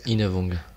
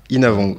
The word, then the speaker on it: Innavong: Voilà, ton nom de famille c'est Inavong. Inavong. Ouais. C'est bien ce que je me disais. J'ai toujours peur de mal prononcer parce que Les noms l'asiate, c'est toujours galère.